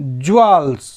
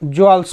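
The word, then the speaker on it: jewels: And hide some ज्वेल्स इन his pockets, इसको हम ज्वेल्स पढ़ रहे हैं ना, जेवेल्स नहीं, इसका उच्चारण ही ज्वेल्स कहलाता है और इसका बेरीड कहेंगे।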